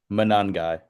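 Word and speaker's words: Monangai: But I think instead I'm going to go ahead and take Kyle how do you pronounce his Manangai, name, Zach? Say it. Manangai.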